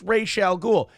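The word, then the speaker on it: Ra's al Ghul: but it's like no it you it is pronounced Ral ghoul and what did Rachel ghoul always call Batman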